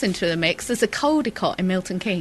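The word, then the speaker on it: Caldecotte: There's a codicott in Milton King. Coldott. You see, you get very confused if you say kodicott cuz people think you mean cold.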